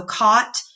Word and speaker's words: caught: There is it's hard sometimes when you're reading English because there are some words that are silent and you don't sound them out. So caught, field, fit, football, that's